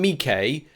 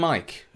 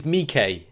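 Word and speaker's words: Miike: command me k has been known as kabam mikay for years like what four five years he's not called command mike um he's mikay it's it's m-i-i-k-e i know a lot of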